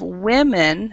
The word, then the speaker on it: women: Then we have women which is a very common mistake made by people. Everybody pronounces it like woman.